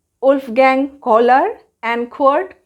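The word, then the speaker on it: Köhler: एक है मैक्स वेर्देमार, Wolfgang कोहलर and Kurt Kafka. ये प्रोनाउंसिएशन जैसे मैंने किया है वैसे ही आप करेंगे। मैं फिर से बता रही हूँ, मैक्स वेर्देमार, Wolfgang कोहलर and Kurt Kafka.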